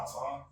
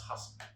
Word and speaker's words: Hassan: His name not Hassan? Nah, it's Hassan.